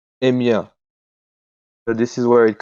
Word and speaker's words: Emia: And then you mentioned earlier, is it pronounced Emia? Yeah, Yeah, you mentioned Emia. Emia.